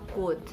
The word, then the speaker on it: could: L becomes silent or is not pronounced when it comes after the vowels like A, O, and U in a word. L is not pronounced when it comes after the vowels like A, O, and U in a word. Example words are like should, could, have, calf, all those.